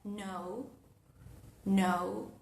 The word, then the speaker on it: know: Por ejemplo, en la palabra knee o en la palabra no, o en la palabra night. Night de caballero, no de noche. Entonces van a ver que la K no se articula. No tratamos de retener el aire en ningún lado, no levantamos la lengua en el paladar blando, simplemente pasamos a la N.